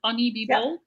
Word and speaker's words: honeybebold: honeybebold.